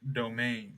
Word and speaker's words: demesne: It's just another spelling of domain. It's spelled very funny. It's Demesne, domain, domain.